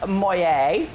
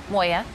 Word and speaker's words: Moya: Our fabulous Moya. Moya? Moya. Moya. Moya. Moya. You want to spell that for us?